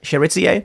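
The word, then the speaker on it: Chérizier: Jimmy Cherizier, is that how you pronounce it? Cherizier?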